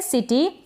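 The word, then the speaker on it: city: और लास्ट में आप याद रखें, अगर वाई आता है जैसे कि सिटी है, तो इस वाई का उच्चारण इस तरीके से बड़ी ई के रूप में होता है। सिटी करके नहीं बोलेंगे, बड़ी लिखा जा रहा है, लेकिन जो उच्चारण होगा वो थोड़ा छोटा होगा। सिटी, इस तरीके से सिटी नहीं बोल रहे हैं, हम बोल रहे हैं सिटी।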